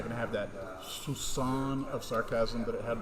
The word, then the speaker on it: soupçon: It's not going to have that soupçon of sarcasm that it had before.